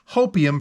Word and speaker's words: Hopium: and 16th full-length album, I have to pronounce this correctly, Hopium for the Masses, all one word, Hopium for the Masses, coming from Ministry.